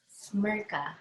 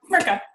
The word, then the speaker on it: Smrcka: If you pronounce it just like it's spelled. Smrcka. Smrcka.